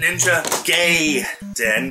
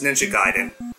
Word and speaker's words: Ninja Gaiden: Gaiden for the NES people pronounce it ninja gay dan but no it's Ninja Gaiden so that's what I